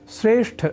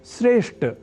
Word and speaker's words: श्रेष्ठ: में बताया है कि श्रेष्ठ शब्द का उच्चारण व लेखन हम में से कई श्रेष्ठ इस अशुद्ध रूप में कर जाते हैं। वस्तुतः यहां अर्थात श्रेष्ठ शब्द में ठ इस महाप्राण अक्षर का उच्चारण व लेखन लोग ट इस अल्पप्राण स्वरूप वाले अक्षर से परिवर्तित कर दिया करते हैं।